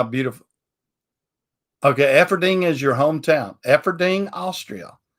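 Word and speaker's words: Eferding: what now where upper austria effing dean e-f-e-f-e-r-d-i-n-g efforting is that the way it's pronounced is that good enough upper austria-efferding okay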